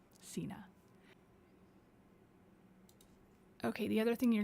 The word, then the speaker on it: Signe: Signe, which, by the way, is how you pronounce her name, Signe.